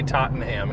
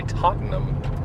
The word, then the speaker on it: Tottenham: Ooh, I bet they say Tottenham here. But in England, they'd say Tottenham.